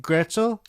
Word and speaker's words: Gretschel: Today we're actually being joined by Cat Gretschel. Hey, hey, hey! Wait, did I pronounce that right? You did actually. Really? Very impressive. Yeah, a lot of times people get confused because there's a TSH Right, in yeah.